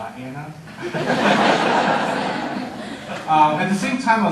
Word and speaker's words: Vienna: It's spelled Vienna, but it's Vienna there.